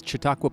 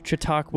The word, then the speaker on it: Chautauqua: Boulder Colorado what is the how do you pronounce this park well this is chatauqua Park Chautauqua right at the base of the Flatirons this